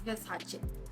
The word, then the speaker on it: Versace: That I do know, that's exactly how you pronounce the name, it's Versace.